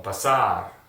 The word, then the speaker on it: pasar: Now, as you can see, all those verbs end with the consonant R, so the accentuation is going to be on the last syllable.